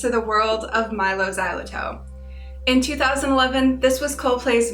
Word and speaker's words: Xyloto: How do you pronounce XYLOTO? It's XYLOTO.